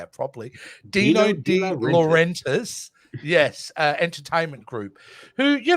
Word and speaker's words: Dino De Laurentiis: Dino De Laurentiis, yes, entertainment group, who, you know, they were